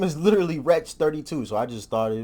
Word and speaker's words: Wretch 32: erect his name wrong its wretch three two not 32 listen if I ever